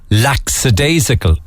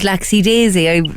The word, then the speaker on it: lackadaisical: You also, both of you and Miss Dennehy, also thought the word was lackadaisical. Yeah, that's what Jar is putting. I thought it was laxy-daisy.